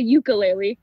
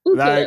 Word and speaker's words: ukulele: Sorry, I had to interrupt because, okay, so I learned, okay, I used to say the ukulele, but we learned that that's not how you say it. It's the ukulele. Like ukulele. Ukulele, yes.